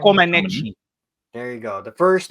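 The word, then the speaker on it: Comăneci: Comaneci.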